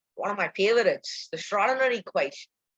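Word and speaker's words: Schrödinger: of my favorites the schrodinger equation pronunciation g must be silent raw dinner so so this is the schrodinger equation okay this might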